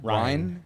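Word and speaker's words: Ryne: Ryan. Yeah. Is that how it's spelled?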